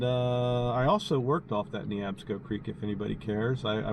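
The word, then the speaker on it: Neabsco: the pronunciation of that Creek it's knee APSCo creek not nob schoo or newb schoo its knee AB scope so it's knee APSCo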